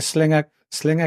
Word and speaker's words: Sliger: So that it's I think Sliger, it's pronounced Sliger. Yeah. I could be wrong.